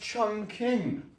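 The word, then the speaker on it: Chongqing: out okay never mind chong ching is right here apparently it's pronounced Chong King I heard China used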